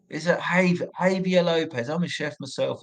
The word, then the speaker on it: Javier: It's Havia, isn't it? Like say the J is silent, like Django. Is it Javier Lopez?